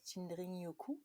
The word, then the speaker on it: Shinrin-yoku: C'est sûr qu'à la japonaise, il y a un petit dring-dring, Shinrin-yoku. OK, Mais oh, moi, je le prononce Shinrin-yoku pour OK.